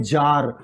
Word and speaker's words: czar: जार का मतलब Russia, ये स्पेलिंग देखिएगा इसको, CZAR, ये है जार।